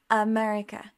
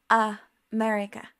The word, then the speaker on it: America: end of a word, but did you know that the schwa can also be at the beginning of the word? For example, we have America. Do you hear? America.